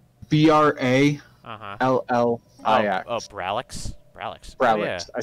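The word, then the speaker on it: Brallix: Ooh, there's an alien menace in Braxil. Type that for, spell it for me. It's B-R-A-L-L-I-X. Oh, Bralix?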